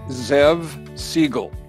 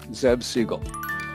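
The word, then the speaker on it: Zev Siegl: today by the way my name is pronounced zev siegel zeb siegel back in 1971 when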